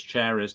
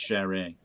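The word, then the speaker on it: Charest: you say his name I would say Travis cherish but I think it's sharing yep third issue by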